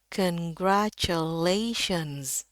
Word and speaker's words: congratulations: Nah, biasanya orang bacanya congratulations. Ya, bahkan pakai S juga di sini. Karena nggak tahu ya bahwa versi yang benar itu pakai Z. Sekali lagi, yang benarnya adalah congratulations.